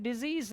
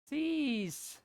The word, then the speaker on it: decease: और ये नीचे वाला क्या है, इसका प्रोनाउंसिएशन डिजीज नहीं है, इसका प्रोनाउंसिएशन क्या है, डिसीज, ये सीस है, डिसीज, डिजीज नहीं है नीचे वाले का, डिसीज, ये डेथ है, मृत्यु है खुद ही, है ना।